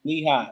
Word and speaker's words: Lehigh: um correct me if i'm wrong if i'm pronouncing this let hi lehigh okay lehigh and duke in 2012 yup cj